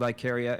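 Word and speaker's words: Ikaria: It is called Iicaria. It comes from Icarus um and a Greek island called Iicaria spelled slightly different.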